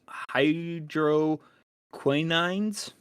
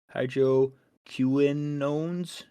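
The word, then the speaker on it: hydroquinones: or Greek uh storage Hydro quinines that's not how you pronounce it but it's Hydro Quinones cunones and hydrogen peroxide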